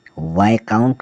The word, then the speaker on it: viscount: VISCOUNT, वाइकाउंट मतलब पद।